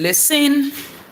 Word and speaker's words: listen: The S is silent and the E is weak.